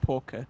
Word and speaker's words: Porker: It's it's pronounced Porker with like a k, you know?